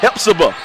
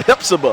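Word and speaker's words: Hephzibah: Our first game is Richmond Academy is taking on Hepzibah. I need to learn how to pronounce that. Hepzibah. Hepzibah. Say it how you spell it, I guess.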